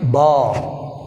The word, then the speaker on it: bomb: Second one is bomb. Which is silent? L is silent. Simple one. Bomb. Bomb. L silent.